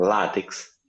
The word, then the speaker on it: látex: que existem duas pronúncias tem gente que fala latex latex o que você acha ficar correta o látex latte você tá o acento agudo na primeira sílaba mas tem pessoas que